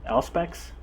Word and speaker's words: Auspex: With Auspex, I think I was in doubt how to pronounce this word on the last video. Apparently it's Auspex.